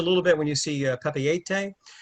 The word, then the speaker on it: Papeete: And just a little bit when you see Papeete, it's a mix of French and Tahitian. Basically, virtually every vowel and letter is pronounced.